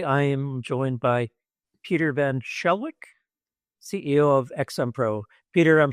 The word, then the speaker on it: Pieter van Schalkwyk: Today I am joined by Peter Van Shelwick, CEO of XMPro. Peter, I'm sure I botched your name. What's the right pronunciation? Um, Van Skullquick, but Van Shawquick is perfect as well.